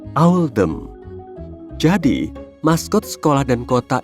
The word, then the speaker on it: Oldham: Pilihan ini dibuat untuk mencerminkan pelafalan Oldham dalam aksen lokal, yaitu Owldham.